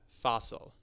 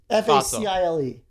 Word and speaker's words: facile: And then additionally, we have Fossil. No, I don't think Theo knows how to read the little No, pronunciation F-A-C- marks. Fossil. I- Fossil. F-A-C-I-L-E.